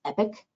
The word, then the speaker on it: EPC: interface for everything now the e-rate productivity center acronym is epc but it's pronounced epic so in epic is where you do